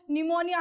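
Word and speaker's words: pneumonia: के स्पेलिंग को देखें तो यह बताया गया कि पी साइलेंट रहता है लेकिन जब मैंने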